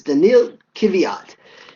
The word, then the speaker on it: Daniil Kvyat: I hate getting people's name wrong, but it's Daniil Kvyat.